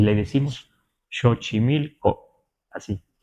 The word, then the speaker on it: Xochimilco: en lagu aeca en Veracruz y le decimos chochimilco así chochimilco así lo pronunciamos no sabemos si aquí lo pronunciaban los